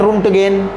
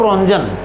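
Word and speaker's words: Röntgen: इसको ये भी लिखते हैं, कुछ लोग इसका प्रोनाउंसिएशन करते हैं रुंटगेन, है ना। कुछ लोग इसका प्रोनाउंसिएशन करते हैं रुंटगेन, मैं इसको कहता हूँ रोंजन।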